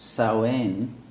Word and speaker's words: Samhain: as you may know, its original name was not Halloween, but what is actually in Gaelic pronounced Samhain, something close to that. And then you wonder why it's spelled as if it's Samhain.